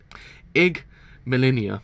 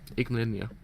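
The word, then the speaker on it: Yggdmillennia: Igmalinia. That's how you pronounce it. Igmalinia.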